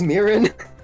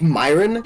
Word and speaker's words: mirin: The sugar Did you pronounce it like Myron? That's so fucked up. is naturally No, Literally I'm cultural referencing appropriation. a meme. Okay, hold on. I have never used mirin Okay.